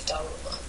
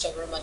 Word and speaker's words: Daruma: They're called Daruma dolls. Daruma is the Japanese transliteration for Dharma. That's how the Japanese pronounce Dharma. They say Daruma.